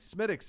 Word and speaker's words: Smithwick's: I was gonna say I'm Smittix. going with Guinness. Yeah, I mean I think What is that? Which is that? The cream one? Guinness. I mean, like there's Murphy's, and then like Smittix is like I think that's in the Irish